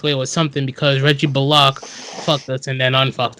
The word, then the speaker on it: Bullock: Even though betting the Knicks tonight, you would have walked away with something because Reggie Bullock fucked us and then unfucked us.